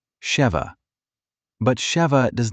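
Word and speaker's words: שבע: In Hebrew, the word for seven is pronounced very closely, sheva.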